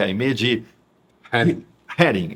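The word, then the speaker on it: Aimée de Heeren: Vamos falar um pouco dos seus dois livros, em especial o mais recente, A Bem Amada, a história de Aimee de Herring. É assim que a gente pronuncia o nome dela.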